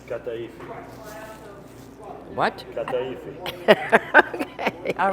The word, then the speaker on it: kataifi: We got to make sure we pronounce this correctly. Kataifi.